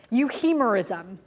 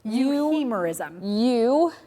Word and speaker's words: euhemerism: Euhemerism. You got a sneak peek from Diane. The ironic thing is, I didn't hear her very well. Because I was shouting exactly. over it. Euhemerism.